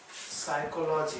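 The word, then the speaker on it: psychology: के पास है कि जख्म दे रहा हूं साइकोलोजी अ में ही के स्वाहा इस मिर्च और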